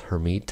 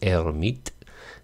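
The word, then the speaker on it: Hermite: the her herit polinomial hermit I guess most Americans say French pronunciation is erit and uh he was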